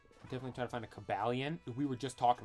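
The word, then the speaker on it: Cobalion: talking about this earlier I used to always say when I was little Kobe lion that's how I pronounce it Coba lion but now I think it's pronounced cabalian cobalian if I'm not mistaken I'm saying like caballion I'm saying really fast cobalian so I guess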